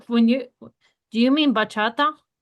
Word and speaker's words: bachata: Yeah, bakata. We can do bakata. Like that's a new genre. I don't know. Tomato. Tomato. Bata. Bachata. Bachata.